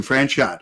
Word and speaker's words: Franchot: I was using the French pronunciation, Franchot.